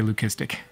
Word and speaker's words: leucistic: are probably pretty sweet leucistic for those you that lose your minds when I say listic even though that's the right way to say it and here we got